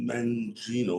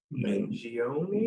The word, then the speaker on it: Mangione: Luigi Mangino or Mangino, like how do you say that, Ethan? Mangione? Mangione? Mangione? Mangione, 26 years old.